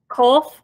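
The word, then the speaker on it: קוף: And then we have kof. This is the k sound. Very similar to the sound that the kaf makes, but it's pronounced a little bit farther back in the throat.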